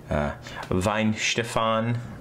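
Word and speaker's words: Weihenstephan: me see if i can say it correctly vine stefan original this is the oldest brewery in the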